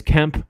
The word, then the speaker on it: Kemp: And we got Sean Kemp out here because Kemp rhymes with hemp.